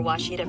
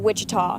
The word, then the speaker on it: Ouachita: I've heard people say Ouachita. Ouachita. Achita. Ouachita. Is it pronounced Ouachita? Searching for Washita Baptist University. Back in Texas, everybody pronounces it Wichita, but really, it's Washita.